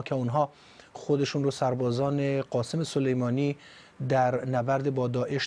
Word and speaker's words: قاسم: که مجریا و خبرنگارها از قاسم رو قشنگ قاسم تلفظ میکنن.